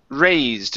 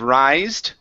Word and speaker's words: raised: good let's go to raised instead of rised what is raised with a long a raised there you